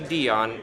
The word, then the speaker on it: Dionne: and I found Kelsey Dionne. How is your last name pronounced? Oh, that's a good question. It's like Celine Dion, same pronunciation. Kelsey Dionne, aka the Arcane Library,